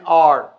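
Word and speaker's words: hour: Apple an elephant N आर अच्छा आर के अंदर ए साइलेंट है इसलिए एन लगाएंगे यहां ए आर कहना गलत होगा इसी तरह वो एक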